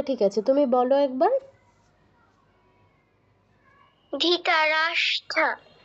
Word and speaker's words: ধৃতরাষ্ট্র: আছে তুমি বলো একবার ধৃতরাষ্ট্র না ধি নয় ধৃ বলো ধৃতরাষ্ট্র ধৃতরাষ্ট্র হ্যাঁ কিছুটা হয়েছে একটু ভুল আছে দেখো স ট র স ট র যুক্ত হয়েছে তাহলে কি হবে স্ট্র ধৃতরাষ্ট্র বলো ধীতা হ্যাঁ এবার পারফেক্ট আচ্ছা